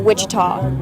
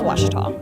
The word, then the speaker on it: Ouachita: Back in Texas, everybody pronounces it Wichita, but really, it's Ouachita. Ouachita. Ouachita. How would you pronounce it? Ouachita. Ouachita.